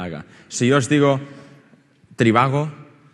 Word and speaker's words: Trivago: Si yo os digo Trivago, diréis, ¿por qué lo dices tan juntos? Si es Tri-va-go.